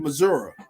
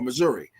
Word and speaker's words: Missouri: the DC of the University of Missouri or Missouri before his time with Missouri that's how you say it there Missouri Wilkes was the defensive